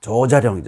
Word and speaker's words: 조자룡: 그러면 예를 들어서 여러분 그 헌칼을 잘 쓴다는 이 조자룡이지 않습니까? 조자룡 그러면 당연히 길게 발음해야 돼요.